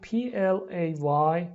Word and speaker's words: play: We write P-L-A-Y but we say play. Why? Teacher میگه Well, that's play. There's no E between P and L.